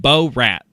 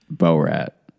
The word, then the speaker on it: Borat: You The first few times you said bor rat and that is just not how it's pronounced. B rat.